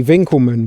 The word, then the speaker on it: Winckelmann: ideal of beauty and apologies i was probably supposed to say winkelmann but being married to an american i've got very used to pronouncing w's as w's when i say